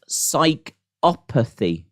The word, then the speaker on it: psychopathy: It's pronounced psychopathy.